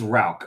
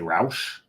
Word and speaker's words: Rauch: And it is Rauch. A lot of us want to say Rausch. hmm As a matter of fact, I know for a fact John and I both pronounced it Rausch for the longest time until John corrected us, John Hall.